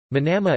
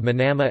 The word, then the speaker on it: Manama: Manama Arabic, Al-Namt Al-Manama Bahraini pronunciation, Elm-NM, is the capital and largest city of Bahrain, with an approximate population of 157,000 people.